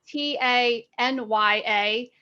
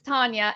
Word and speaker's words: Tanya: it's now your name is spelled t-a-n-y-a so it's not tanya it's tonya and then